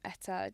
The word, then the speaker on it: Etta: Can you share a little bit of the story behind the name Etta Collection. Is that how you pronounce Yeah, it?